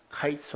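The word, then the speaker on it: קַיִץ: 가지고 있습니다 네 이제 여름 과일은 히브리 말로 카 있으라고 하고 또 이 끝은 캡스 라고 한답니다 보니까 카이스 어캐 스가 사실은 병에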